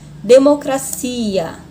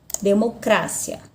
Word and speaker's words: democracia: tônica não se olha democracia democracia então a sílaba tônica seria aqui mas na língua espanhola a sílaba tônica é no cra democracia democracia tá são as sílabas